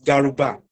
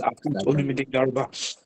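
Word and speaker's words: Garuba: to pronounce my surname the name is Guba. G A R U B A Ga. So my name is Guba.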